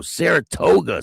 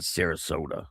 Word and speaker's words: Saratoga: Oh, Saratoga Springs, that's how you say it. Saratoga, not Sarasota. Saratoga.